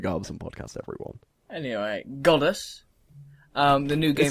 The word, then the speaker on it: Godus: saying goddess goddess it's when you say it sounds like you're saying goddess it's goddess I'm yeah it's hard to pronounce with an English actually goddess goddess well Peter mull